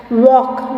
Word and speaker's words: walk: Walk. WALK, walk. L is silent.